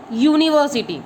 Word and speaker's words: university: According to the pronunciation, university, it starts with U, Y-O-U, Y. Okay kids, so before university, which article will come? A. Because pronunciation of university is U, Y.